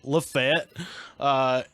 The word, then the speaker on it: Lafayette: the Marquis de Lafayette, but in Alabama is pronounced Lafayette. So we're in Lafayette, and Connor, the Irish guy, has had a